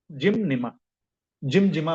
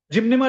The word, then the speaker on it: Gymnema: product है मेरा जिम जिम जिमजिमा बहुत से लोग इसका प्रोनाउंसिएशन गलत बोलते हैं दोस्तों जिमजिमा not this is correct pronunciation इस जिम जिमनेमा टेबलेट देखा होगा सबने